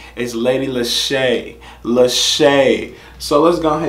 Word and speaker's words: Leshurr: let's get into it okay lady Lisa not Lesure people keep telling me look man people keep